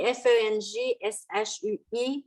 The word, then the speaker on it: feng shui: Mais le mot feng shui comme tel, ça s'écrit F-E-N-G-S-H-U-I, ça se prononce feng shui.